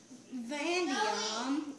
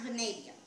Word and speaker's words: vanadium: gallium, zinc, copper, nickel, cobalt, iron, manganese, chromium, vanadium. Oh wait, not vanadium. It's pronounced vanadium.